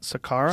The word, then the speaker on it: Saqqara: Saqqara? Saqqara, yeah.